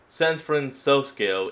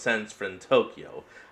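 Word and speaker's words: San Fransokyo: San Francos is apparently how it's meant to be pronounced. I thought it was Sento Tokyo.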